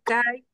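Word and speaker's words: καί: Bueno, CAE es súper común, CAE, y CAE lleva el acento en la A, no en la I.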